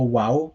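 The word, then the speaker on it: waw: sound it currently makes but in ancient hebrew it was most likely pronounced as a what sound so it would have been called a wow rather than a valve and like this is made more plausible by the fact that for those of you who speak other seminic languages like aramaic or arabic it is still called a wow also some of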